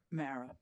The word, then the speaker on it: Mara: I've been saying Mara. Is that the correct pronunciation? It's Mara like Tara. Mara.